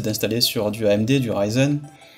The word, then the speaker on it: Ryzen: Sur le Hackintosh, ce qui est plus facile maintenant, c'est d'installer sur du AMD, du Ryzen, ou Ryzen si on prononce à la française, je sais pas, mais c'est plus facile maintenant de faire un Hackintosh avec du AMD.